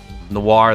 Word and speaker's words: noir: Noir, that, and Gardevoir are all the same sound at the end.